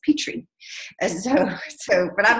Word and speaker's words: Petrie: So I say it like Petrie, and that's not how you pronounce it. They say it's Petrie.